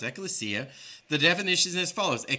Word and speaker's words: ecclesia: okay so let's look at strong's concordance g1577 pronounced ecclesia the definition's as follows a calling out that